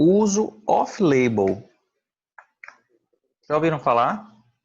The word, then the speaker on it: off-label: no hospital o uso off-label já ouviram falar e não não lembro só celular top label a pronúncia dele é o uso off label off label significa medicamentos